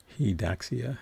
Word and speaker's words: Daxia: Daxia is how you pronounce his name. It's not, the last name isn't spelled like Daxia, but she calls him Daxia.